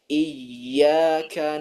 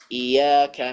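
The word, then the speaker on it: إِيَّاكَ: yang sering terjadi adalah tasdidnya huruf ya pada ayat iyaka nabudu wa iyaka nast biasanya orang membaca iyaka iaka naudu wa I at iaka seakan-akan membacanya tanpa tasdid kemudian membaca ee Dal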